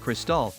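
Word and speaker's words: Cristal: fallen in love with Crystal spelled and pronounced just like the champagne after a ride home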